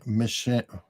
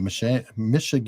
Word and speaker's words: Michiganders: Michiganders? Michiganders. It sounds almost Yiddish. It'd be hard. It sounds like Michigas. It's like Michigas, Michiganders. It sounds like the feminine of Michigas.